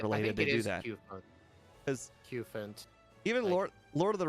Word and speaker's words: Cufant: I think it is Cufant. Like, rhymes with elephant. Cufant. That makes the most sense.